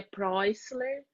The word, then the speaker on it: Prusseler: me chamo se a gente for para pronuncia seria preisler né mas geralmente eu falo prus que é como a gente lê que é mais fácil mesmo e eu quero